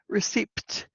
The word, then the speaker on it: receipt: Receipt. Because English is crazy. So it's the P that is silent.